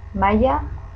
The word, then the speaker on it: mahaia: in the other one, as the H is mute and it's not pronounced, it's as if there wasn't anything. So maya, you pronounce two eyes, yay, maya.